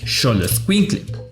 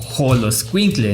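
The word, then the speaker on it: xoloitzcuintle: raza del perro Xoloscuincle, pues pronuncias Xoloscuincle, no Joloscuincle ni Soloscuincle.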